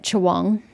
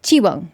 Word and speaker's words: Chiwang: Why is she pronouncing it Chawang? I'm sure if we were trying to pronounce that in English, we'd say that like that. But it's Chiwang, ma'am. You don't change how syllables or characters are pronounced in Chinese depending on what's around them like you would in English or even Japanese to an extent. It's still pronounced the way it's pronounced. And in this picture, the